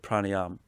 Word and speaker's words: pranayama: practiced so the word pranayam or pranayama as some people say you're not supposed to pronounce the last a but it's all good